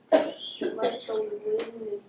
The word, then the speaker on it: Mussolini: Yeah, but how do you pronounce it? Let me hear. Mussolini.